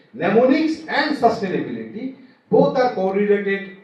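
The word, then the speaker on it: mnemonics: In pneummonics the first letter M is silent.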